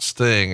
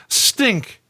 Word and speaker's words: Sting: That's how just the way he pronounced Sting. And the idea that someone pronounced Sting as Stink is fucking hilarious to me.